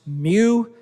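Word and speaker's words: μ: And so that's just a little reminder that the coefficient of friction is pronounced mu. So just think of what the physics cat would say.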